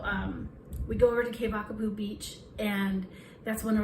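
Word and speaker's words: Keawakapu: uh k k vakapu if you see a w here in Maui or in Hawaii it's pronounced with a V so it's k k wa but it's que vakapu and so um we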